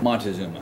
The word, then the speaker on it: Montezuma: I don't know how to pronounce the name. It's Montezuma.